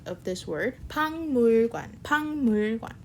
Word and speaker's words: 박물관: And then 선생님은 학생들이랑 선생님은 학생들이랑 박물관에 갔어요.